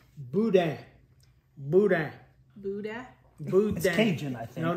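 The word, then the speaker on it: boudin: pronounced bud bud bud buun I think no not booty not boute you got like back in your throat a good good right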